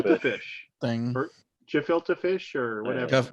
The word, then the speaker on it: gefilte: or gefilte fish or whatever. Gefilte. Hard G.